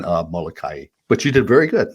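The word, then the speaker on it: Molokaʻi: okay let's a few in hawaiian we pronounce every single syllable so it's kaho alavi it's lanai it's kawaii and molokai but you did very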